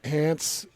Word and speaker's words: Hance: But it's easy as just texting Hans to 57500. And that's spelled HANCE.